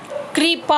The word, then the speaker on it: कृपा: का र, पा, कृपा, कृपा होगा, री की मात्रा का उच्चारण होगा कृपा, गृह।